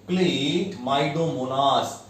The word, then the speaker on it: Chlamydomonas: What is the pronunciation? Chlamydomonas.